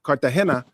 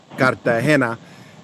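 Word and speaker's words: Cartagena: And Cartahena is Cartahena. I'm saying it wrong again. Kartahena.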